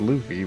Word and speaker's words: Luffy: Yeah, it was Luffy. Why you said Oh. Luffy? It's Luffy. I think of like Fluffy, where it's the sounds are gonna be the same.